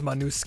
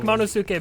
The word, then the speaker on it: Monosuke: I guess Manusuke is the way to pronounce his name. We've been saying Monosuke. Oh. I like Monosuke better though.